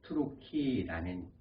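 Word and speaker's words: Türkiye: 터키라는 말을 풀이하면 투르키라는 발음입니다. 그래서 투르크라고 우리는 얘기를 하고요.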